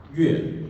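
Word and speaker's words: 樂: character in Chinese, and when it is intended to mean music, it's pronounced yue. When it's intended to denote joy, it's pronounced le, but it's the same character.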